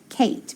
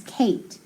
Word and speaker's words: Kate: so a sneaky e that means that a is long and that e is silent okay so k eight kate very good because look